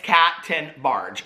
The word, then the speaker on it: Tenbarge: make sure and it's captain barge so i asked her so she's like 10 and then barge like the boat so anyway thank you